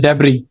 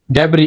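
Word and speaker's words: debris: decorate करना लुमिनेट then ट डेबी डेब sauce silent raw डेब द रुन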